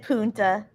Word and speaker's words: Punta: Punta Cana. Yeah, that's it. You said punta. That's a Same. naughty word. Oh, yeah. I forgot. My son-in-law told me I have to start pronouncing the N.